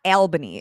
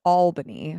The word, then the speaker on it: Albany: And it's not Albany. It is Albany for anybody wondering. That's one of the times where my pronunciation is actually right.